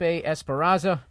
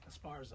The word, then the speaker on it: Esparza: Dean Del Rey myself Al Madrigal and Felipe Esperanza uh you gotta listen to him did I say his name right Esparza Esparza I'm the worst um